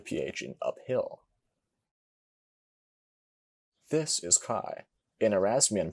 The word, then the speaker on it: chi: In ancient pronunciation, chi sounds like the KH in backhand.